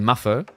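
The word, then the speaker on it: maðr: Madr, which is Maffer, is how you pronounce it, means man.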